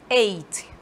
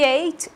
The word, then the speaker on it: ate: eu estou usando passado então vou usar um eit vejam aqui em ti êita pronúncia tá muda bastante da forma dele base